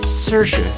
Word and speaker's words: Saoirse: star of Lady Bird Saoirse Ronan that's right Saoirse how do you spell it you got three options there usually nobody